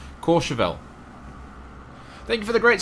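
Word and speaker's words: Courchevel: airways we are in course chevelle jason's got me married and i keep gonna pronounce it yeah incorrectly core chevelle thank you for the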